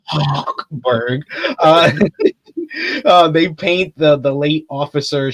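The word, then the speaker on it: Hochberg: he and District Attorney Huckberg, I say it like that, Huckberg. I know. I get that phlegm in the back of the throat for that one. Huckberg.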